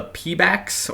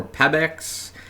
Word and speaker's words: Pebax: the shoe, which I believe is labeled the Pebax or Pebax. P-E-B-A-X is how we spell it.